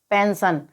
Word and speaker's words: pension: तो जब एस के बाद में ION आया हो वर्ड में, तो यहाँ पर एस का उच्चारण श होगा। तो यहाँ पर PENSION को हम क्या पढ़ेंगे? पेंशन।